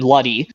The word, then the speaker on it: Luddy: I know how to say it, Barbara, and then Luddy. It's with 2 D's after the L-U, 2 D's, and then Y. That's how you say Luddy.